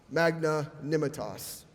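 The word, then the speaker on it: magnanimitas: one word to remember Magna nemetes twelve letters five syllables Magna nimah toss it is the Latin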